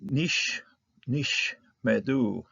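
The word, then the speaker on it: נִשְׁמְדוּ: Double shava here. The first one's going to be silent, closing off the syllable here, and the second one's going to be pronounced, giving us an open syllable here on the mem.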